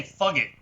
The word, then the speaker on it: Fugit: Um, then there was, and I again I could butcher these names, but Patrick Fugate. Uh, Patrick. You might be right. I don't know. Yeah. I'm gonna say Fugit. Fugit. Patrick Fugit.